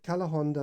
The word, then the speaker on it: Calahonda: how it's spelt although the spanish don't pronounce the h um but uh cala honda language center if you